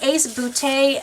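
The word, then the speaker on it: Ace Beauté: them all this is the ace bootay a palette I know but that's really how you say it we got this in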